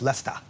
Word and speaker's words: Leicester: Professor Jeremy Howick heads up the Stony Gate Center for Empathic Healthcare in Leicester at the University of Leester, England. I'm told it's Lester.